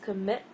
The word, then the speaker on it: commit: And this is commit, not comment.